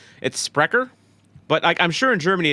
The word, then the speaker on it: Sprecher: By the way, I am starting off light tonight with a Sprecher root beer. Like Toy Cut. Sprecher, root beer. I think that's how you say it, right? It's Sprecher, but I'm sure in Germany it'd be Tommy Totland's getting feisty, dude.